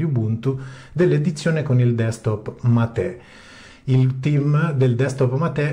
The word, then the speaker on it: MATE: in ogni caso Ubuntu matè con l'accento sulla e è sempre stata la